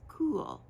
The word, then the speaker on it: Caol: free on rivalry but she told me that it is pronounced as cool c l and I